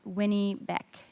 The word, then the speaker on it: Winnipeg: muddy waters and it's actually pronounced Winnie it's pronounced Winnie back so I want all of us to say